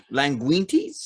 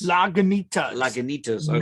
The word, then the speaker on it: Lagunitas: memory from was that how do you say that like languintes lagunitas but hazy memory it's